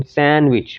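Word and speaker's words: sandwich: उसके बाद हमारे पास है सैंडविच, जो कि सैंडविच है, इसकी एक्चुअल प्रोनाउंसिएशन सैंडविच, जो डा साउंड है इसको हम प्रोनाउंस नहीं करते, ये एलिजन हो जाएगा।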